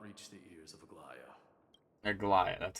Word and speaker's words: Aglaea: Aglaea, that's how you say it.